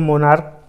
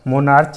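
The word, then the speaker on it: monarch: मोनार्क, यहाँ भी last में सी एच है, लेकिन हम मोनार्क को क्या प्रोनाउंस करते हैं, मोनार्क। मोनार्च नहीं कहते हैं, मोनार्क कहते हैं।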